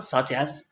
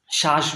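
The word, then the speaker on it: such: একটা শব্দ বলছে না সাচ মানুষকে শিখাইতে গিয়ে আমার মানে কি যে পরিশ্রম করা লাগে কারণ কিছুতেই সাচ বলতে পারে না বলে শ্বাস বলে ফেলে বা অন্য কিছু বলে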